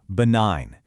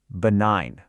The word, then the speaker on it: benign: Listen to that again. Benign. See, no G sound at all. This is another one of those historical clues and it links the word to its cousins like benignant where that G sound comes back to life in our story.